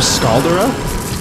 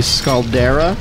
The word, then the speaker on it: Scaldera: a pyroclastic fiend or scaldora scalda sounds good run away I feel like the nerdier pronouncing pronunciation would be scaldera I feel like it's